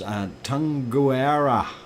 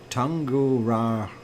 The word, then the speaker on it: Tungurahua: I've stumped you guys, and it's Tunguara, if I said it right. Tunguahura, if I said it right. I'll spell it out just so you have it.